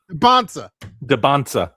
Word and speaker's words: Dybantsa: Well, how do you pronounce his name? Dybantsa.